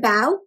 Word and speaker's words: bao: a big bow can you say the word bao bao is a chinese steamed vine so it's